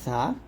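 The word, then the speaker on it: ث: এখানে তা এটা হচ্ছে ছা এটা কিন্তু সা না বলতে হবেছা সা মাখাজ জিব্বার আগা উপরে দাঁতের আগার সঙ্গে লাগিয়ে উচ্চারণ করতে হবে তোছা উপরে যত তিনটা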